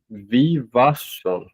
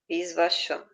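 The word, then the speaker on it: Vivasvān: E Visvavan ensinou a Manu, o pai da humanidade, Vivasvam. Visvasham. Não, Vivasvam. Vivasvam. Vivasham. Não, sem o S no começo.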